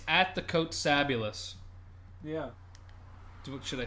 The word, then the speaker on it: Kotsabasakis: It's like fabulous, but Kots. A-B. Well, that's part of Fabulous. Oh, that's true. That is part of Fabulous. Yeah, it's Fabulous, but you take out the F and then you add the Kotsa.